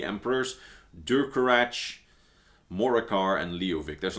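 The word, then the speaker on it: Durcorach: really short-lived dynasty of like 70 years, where Durkarach the Black Drake, that's how his ghost at least, pronounces his name himself, a Reachman, actually managed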